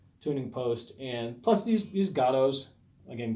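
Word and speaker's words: Gotoh: post, and plus these Gatos, again, Gotos, I don't know how you pronounce it. It's Gato. I like to say Goto because it sounds more how like Japanese people would say it, Goto.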